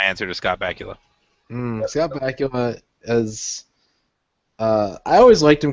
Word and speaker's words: Bakula: Scott Bakula is. I always liked him because his name rhymes with Dracula, but also we watched a lot of Quantum Leap when I was young.